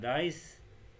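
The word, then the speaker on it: nice: مثال نايس، نايسر. لاحظ كلمة نايس، نايس بها حرفي علة بس هي مقطع صوتي واحد، ليش؟ لأن حرف الإي هنا صامت لا ينطق، فبما أنه حرف العلة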